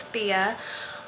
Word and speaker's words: Thea: channel if you're new here my name is Thea I know a lot of people when I